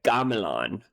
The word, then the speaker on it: gamelan: Okay, so the first point of education for me is how to pronounce it because I believe it's actually a Galan, not a game.